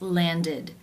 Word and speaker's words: landed: d sound for example the verb to land it ends with the d sound so the past tense of this regular verb is landed id with the e as in sit and the d sound landed now we will look